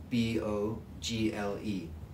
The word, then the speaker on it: Bogle: Oh, and his name is he's passed away now, but his name is John Bogle, B-O-G-L-E.